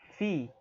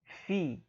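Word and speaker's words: φῖ: Uma outra letra, né, que inclusive, se eu não me engano, é até o símbolo da psicologia, é a letra Fi. Fi. Fi.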